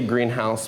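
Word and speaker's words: Greenhaus: a little unique is I say greenhouse, but we spell it H-A-U-S, greenhouse, because it's more of a modern style warehouse.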